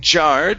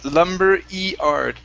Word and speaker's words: lumberyard: yard Lumberyard lumberyard okay instead of jard it's Lumber eard lumber yard lumber yard okay that's good all